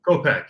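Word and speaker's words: Kopech: gonna butcher his name but michael is it kopeck or how do you say his name kopeck yeah you got it all right copack he's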